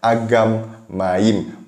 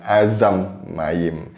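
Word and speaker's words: אגם מים: Padahal nggak ada di situ bacanya Azam, tapi sekali lagi bacanya adalah Agam Mayim, bukan Azam Mayim.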